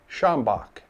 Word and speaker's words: Schambach: And so it's spoken as Schambach.